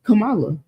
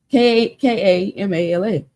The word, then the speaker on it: Kamala: But this how you pronounce this girl name really is Kamala. It makes sense. Kamala. Kamala.